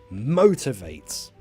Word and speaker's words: motivates: are from Latin countries the stresses on mo motivates motivates me and so be careful with pronunciation on that one number five um being